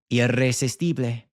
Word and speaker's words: irresistible: pronunciation, like here, but if you break it down syllable by syllable, it becomes a lot more manageable. I, re, si, stible, irresistible, convertible, convertible, impossible, imposible.